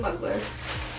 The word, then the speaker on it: Mugler: but oh well um I did have to look up the pronunciation for mugler like I had to look it up and play the sound and it's definitely a muggler that's on me it looks like nuclear but you know I'd